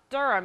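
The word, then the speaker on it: Derham: has a Durham body durum it's spelled d-e-r-h-a-m and durhams were built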